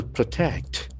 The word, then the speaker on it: protect: Modi vows to protect. P-R-O-T-E-C-T. So we can see that the accent falls on the second syllable.